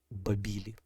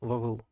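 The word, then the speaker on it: Bāb-ili: ворота Бога по акатськи Це звучало як бабілі ну відповідно з акадського варіанту поступово це переросло в Латинській вабілом і більш використовуваний нами але не зовсім правильно вимови Вавилон після завоювання міста амареями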